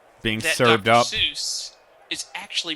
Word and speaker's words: Seuss: Seuss is actually pronounced Dr. Seuss. Yeah, if it's German. EU, the EU letter combination in German is pronounced Oi.